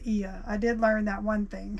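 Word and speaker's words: Oia: of IIA it's o i a but it's pronounced E I did learn that one thing how to pronounce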